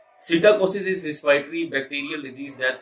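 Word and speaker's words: psittacosis: इसमें पी जो है वो साइलेंट है, सीटा सीटाकोसिस और ऑर्निथोसिस, ठीक है।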